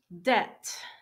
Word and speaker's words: debt: ok credits credits fifth debt debt you notice that the B is silent debt financing financing interest interest